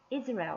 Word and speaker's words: Israel: 이 바로 I의 첫 번째 강세가 있고요. Israel. Israel 이렇게 되죠.